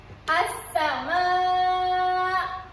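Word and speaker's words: السماء: Kita kena memasukkan huruf lam ke dalam 14 huruf alif lam syamsiah ni. Okey, contohnya. Okey, ikut saja ya. As-sama.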